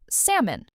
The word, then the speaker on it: salmon: Think of a person's name, Sam, plus a small un sound at the end.